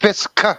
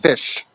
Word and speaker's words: Fisk: Pronounced Fisk, not Fish.